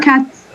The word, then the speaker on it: cats: When we add the S, it's pronounced as S, not Z. Like cat become cats and cup become cups.